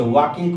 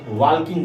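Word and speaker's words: walking: जैसे वॉकिंग को बहुत स्टूडेंट्स वॉल्किंग बोलते हैं, तो वॉकिंग में भी एल साइलेंट होता है, उसे एल छोड़ के हम वॉकिंग बोलेंगे।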